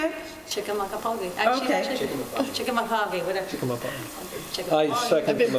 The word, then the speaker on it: Chickamauga: Chickamauga.